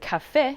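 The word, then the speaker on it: caffè: will fall for example in the word caffe meaning coffee or coffee shop the stress will fall on the final two letters for example chitta city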